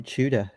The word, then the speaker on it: Tudor: grief to the aussies when they say chuda instead of tudor i i feel like uh a lot a lot of brits say chuda like with a ch chu chuda um so maybe that's why